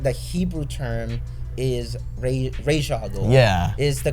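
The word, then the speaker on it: Ra's: it correctly you know I always go by ra I used to say RZ because they said that and Batman Begins and I thought that was how you pronounced it for so long and then I heard them say R shle in the Animated Series I'm like that's correct well last question so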